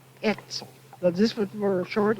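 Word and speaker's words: Oetzel: sort of short E, Etzel. This were a short E, as if the O wasn't there, see, just like the E-T-Z-E-L. It means like silence. The O silent. Yes, the O is silent.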